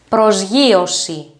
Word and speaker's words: προσγείωση: next two words are apolliosi apoyosi and prosyosi prosiosi apoyosi means take off and pros pros yoshi